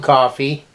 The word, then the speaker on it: Coffey: this man named John Coffey. It's like the drink, not spelled the same.